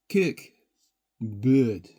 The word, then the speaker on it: Cörk Bord: Now the bird is based on the fact that the this little character here uh has a slash to it and is pronounced a little bit like blue the French for blue. So B uh and uh the cork aspect of it due to the is pronounced uh a little bit like a uh the Scottish church a kirk. So kirk bird To be really clear,